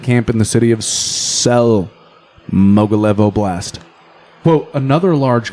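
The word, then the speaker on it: Tsel: Since July 11th, it turns out at least 3 Wagner convoys were moving to Sel, Belarus. I think it's pronounced Sel. T-S-E-L, Sel, probably silent T, I don't know.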